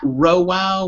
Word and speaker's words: Rhowow: You can find me at Rowow, which is spelled RHOWOW, and I also do a few other podcasts.